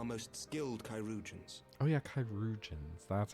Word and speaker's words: Chirurgeons: Oh yeah, Chirurgeons. That's how you pronounce that word.